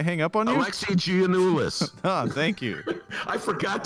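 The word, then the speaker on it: Giannoulias: there did I hang up on you Alexi ganis oh thank you I forgot to put the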